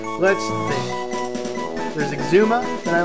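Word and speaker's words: Xisuma: Season 7, so why don't we go with Exuma? And I always have to remember this by how Rian pronounces his name.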